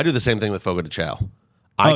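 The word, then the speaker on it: Fogo de Chão: time, and they're like, it's actually Fogo de Chao. In Brazil, like, well, I'm going to be cocky pronounced about this. Fogo de Chao. In America, it's Fogo de Chao. Well, look, buddy, this is my country, and we say it the way we want to say it.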